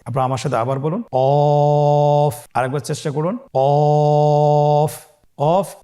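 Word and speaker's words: ق: আপনারা আমার সাথে আবার বলুন কফ। আরেকবার চেষ্টা করুন। কফ। কফ উচ্চারণের ক্ষেত্রে অবশ্যই তিন আলিফ টেনে পড়তে হবে।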